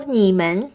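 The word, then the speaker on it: 你们: you going the word niemann means you plural you already know means you admin to the end makes it plural is in the neutral tone so neiman means you plural there are many different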